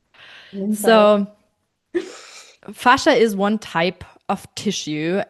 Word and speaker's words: fascia: It's fas fascia. Some pronounce it fascia. I prefer saying fascia.